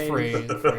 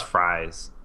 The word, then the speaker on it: Fries: was when they're like, guess how they pronounce his last name, Fries, whatever it was. Oh, yeah. Freeze. Freeze. It was Freeze. I just thought it was Fries.